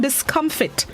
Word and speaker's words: discomfit: The word of the day this morning, discomfit, not to be confused with discomfort. It's fit, F-I-T.